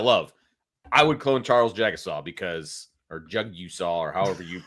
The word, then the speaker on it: Jagusah: Jagusah. Okay. So like I'm jogging down the street. Jagusah. And then I see you saw.